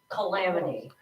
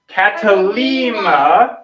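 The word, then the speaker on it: κατάλυμα: No, but it starts with a K, and it sounds like a K. Kayaba? Calamity. Catalima, and it means guest room.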